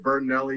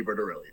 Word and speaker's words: Bertorelli: I always get Bertinelli or Briscoli or Squipoli or Bertoli, and I'm like, thank God someone pronounced it correctly. It is Bertorelli.